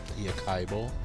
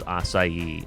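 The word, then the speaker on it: açaí: pronounce his it correctly a Kaio yeah like how long did it take you to learn that it was assai and not Akai or any other iteration of that not long I live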